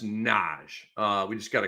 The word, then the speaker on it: Naji: one more here n it's not Nai Marshall it's just Naj uh we just got